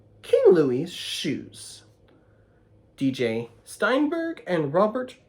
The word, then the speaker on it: Louis: the 14th that's not big King Louie which is how you say Louis in France French was a shrimp